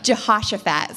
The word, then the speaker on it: Jehoshaphat: So Jehoshaphat is the king, and he hears, Jason told me I wasn't saying it right. Jehoshaphat. Oh, yeah, I just got it. Yeah, Jehoshaphat, sorry. It's a little bit more like Josh. Maybe that's where Josh came from.